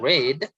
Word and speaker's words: read: two have you read not read but it's red because it's pronounced red because it is used in present perfect and a golden book